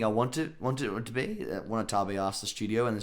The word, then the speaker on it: Watanabe: Am I saying his name wrong? Watanabe? It's Watanabe. Yeah. It's Watanabe.